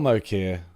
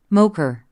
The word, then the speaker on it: Mokyr: Mokyr. Mokyr. More people seem to think Mocha. Mocha. I think it's Mocha. An economic historian studied how